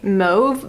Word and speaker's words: mauve: talking about mauve mom i pronounce it mobs i've never heard anybody in my like day-to-day life say move but i know i've heard that on youtube before so hopefully i'm saying it correctly either way i have